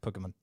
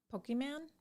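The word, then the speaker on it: Pokémon: yourself that some of those vowels have to be cut in half so it's like pokemon okay i will tell you i thought it was pokeman for a long time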